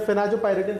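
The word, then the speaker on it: phenazopyridine: में बताना भूल गया, फेनाजोपायरिडिन हाइड्रोक्लोराइड। देखिए मैं इसको प्रोनाउंसिएशन भी कर रहा हूं और संग में लिख भी देता हूं। फिना जो पायरिडिन, फिनाजोपायरिडिन हाइड्रोक्लोराइड।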